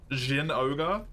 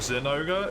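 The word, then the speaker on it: Zinogre: saying Jin Ogre instead of Zin Ogre is just like actively using a translation which is incorrect because it was fan translation and there's an official translation.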